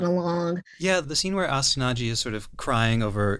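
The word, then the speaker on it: Astonaige: Astianage is how we pronounce it over here.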